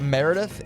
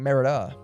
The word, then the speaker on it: Merida: Meredith is a underrated Disney princess. There I said it. There, I said it. Uh, excuse me. I actually said her name wrong. Merida.